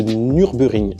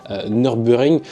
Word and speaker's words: Nürburgring: donc du circuit de Nürburgring. Alors, je sais pas si je prononce bien. Il y a un tréma sur le premier U, donc c'est U.